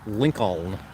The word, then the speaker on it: Lincoln: Why does no one pronounce the second L in Lincoln, like Lincoln?